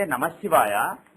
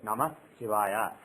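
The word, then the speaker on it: नमः शिवाय: you remove the sandhi, when you say Namah Shivaya, if you pronounce it like that, taking little breath in between those 2 words, Namah Shivaya, then it becomes 2-worded. It's a 2-worded mantra.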